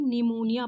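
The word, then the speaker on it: pneumonia: आई यह क्या है पी यहां पे साइलेंट हो जाएगा ये इसको हम लोग क्या पढ़ेंगे निमोनिया पढ़ेंगे है ना यही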